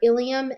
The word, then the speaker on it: ilium: The two words that they give us are ilium and ilium. They are pronounced the same, but they're spelled differently, and they definitely have different meanings.